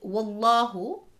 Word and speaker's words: Wallahu: The word Wallahu, on the Waw there is a FATHA, which means the word Allah will be read heavy.